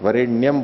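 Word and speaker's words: वरेण्यम्: करके क्या कहते हैं, इनको उच्चारण ठीक नहीं आता है, वरेण्यम बोलना चाहिए, वरेण्यम बोल रहे हैं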